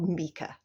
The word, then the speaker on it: Micah: It's attempting to protect her because the real bad guy in paranormal activity is Micah or Mika. His name is pronounced Mika, which is an unusual pronunciation of that name, but just because it's unusual doesn't mean that like it's wrong or anything.